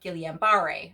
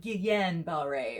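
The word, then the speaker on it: Guillain-Barré: it caused me to have gileambare or some people call it Guillen Bell Ray or however you want to pronounce it and um what's really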